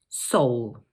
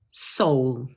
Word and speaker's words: Seoul: So this word is just one syllable, and in British English, it's pronounced Seoul. Let's say that one more time. Seoul.